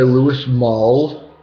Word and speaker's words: Louis Malle: film was directed by louis maul uh you know that's how you pronounce his name but it was um